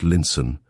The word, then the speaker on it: Lionstown: And so on to Lionstown, pronounced Linson, where they mounted the stagecoach, which was to take them across the moor to Camelot.